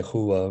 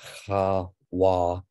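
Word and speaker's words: חוה: I used to say Hua, but that is the path act there. It's Chawa with a doubled wa there.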